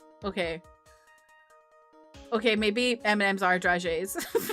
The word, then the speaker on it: dragée: I don't know how you pronounce it. Oh, dragée. There we go. Dragée. I've never actually heard anyone say it out loud, so I just called it a draggy.